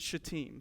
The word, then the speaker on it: Shittim: They are at Shittim. It's Shittim, not right? So it's Shittim, if you're wondering how to pronounce that.